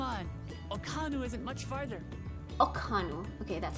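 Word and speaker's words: Ok'hanu: Okanu.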